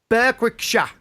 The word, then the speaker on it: Berwickshire: Berwickshire.